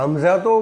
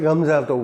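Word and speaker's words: Гамзатов: कवि होते थे रसूल गमजातोव। GH से स्पेलिंग उनकी शुरू होती है, इसलिए उनको कई जगह हमजातोव बोला जाता है, कई जगह गमजातोव बोला जाता है।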